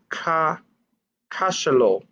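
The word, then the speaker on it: cachalot: l o c-a-c-h-a-l-o-t s i'm assuming that's a french pronunciation which would be cashelo and wales okay so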